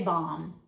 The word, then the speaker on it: bomb: When we say it, we don't pronounce that B. We just say bomb.